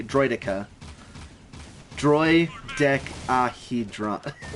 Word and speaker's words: Droideka: how to pronounce droidica he says it like droid dica which is obviously wrong and i say it like droidica droi deck ahidron